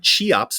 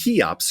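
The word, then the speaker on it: Cheops: The Ink Master says, "Hey Pat, tell Matt that the Chops, pronounced Kops Crystal from the living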